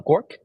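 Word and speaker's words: GOARCH: to be W or those two flags are pronounced as goose and uh gork and then you build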